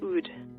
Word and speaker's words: oud: And then you used to play the oud. Is that pronounced correctly?